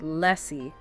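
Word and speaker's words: l'Cie: Okay, let's start with the thematic foundation of the entire 13th trilogy, the Lessi. That's pronounced Lessi.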